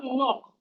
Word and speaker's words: knock: We have knock. The K in knock is silent.